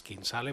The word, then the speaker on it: Kinsale: Se pronuncia, és Kinsale, però és Kinsell, perquè aquesta ciutat de Tisell està a Arizona, als Estats Units.